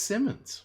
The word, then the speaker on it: Simons: It's spelled Simons, but I Yeah, believe Eddie was telling me he said it's Simmons.